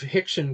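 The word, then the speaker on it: Rickson: overcome I'm reminded of Hickson Gracie the our and in portuguese is pronounced as an H but Hickson Gracie legendary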